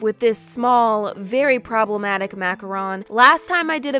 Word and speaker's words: macaron: These macarons were the macarons and on macarons, but I double checked this one on the Google and that's actually how it's pronounced. A macaroon is this. Macaron, macaroon.